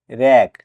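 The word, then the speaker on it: wreck: ডাবলিউ পরে আর আছে তাই এখানে ডবলিউ লেটার সাইলেন্ট থাকবে ডবলিউ আরই কে রেক অর্থ ধ্বংসাবশেষ এখানে ডাবলিউ করে আর আছে তাই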